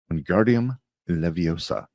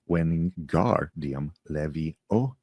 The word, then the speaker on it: Wingardium Leviosa: Andardium Leviosa, he shouted, waving his long arms like a windbell. You're saying it wrong. Harry heard Hermione snap. It's when garium levie oa the gar nice and long.